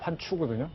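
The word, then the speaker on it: 环球: 지금 저기 한자로 환구라고 쓰고 중국 발음이 환추거든요.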